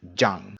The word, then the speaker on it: Zhang: Z in English, but you should know that it's actually pronounced more like a J. So these 3 syllables pronounced are Fang, Wang, and Zhang.